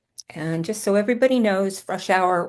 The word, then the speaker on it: Frushour: And just so everybody knows, Frush Hour rhymes with rush hour.